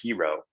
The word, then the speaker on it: Hiro: And there's so much meaning embedded in the word hero. Yes. Yes. And hey, that's a good point, John, because a lot of people have said, why not hero like it's spelt H-E-R-O?